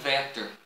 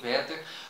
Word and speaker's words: Werther: ó sofrimentos do jovem werther ou o sofrimento do jovem é é ter como alguns bastante pronunciar mas o certo é que mesmo em alemão todo o w ele tem o som de ver é por isso é